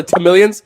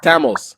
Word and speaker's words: Tamil: page shame on you ain't nobody calling each other T Millions we're not a goddamn reptile over here it's Tamil and if you really gave a about us DL that's how you say it oh all right this